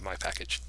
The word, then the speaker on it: mypkg: That's how I'm going to pronounce mypkg, my package.